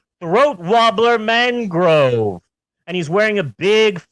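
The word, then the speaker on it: Raymond Luxury-Yacht: It's spelt Raymond Luxury Yacht, but it's pronounced Throat Wobbler Mangrove.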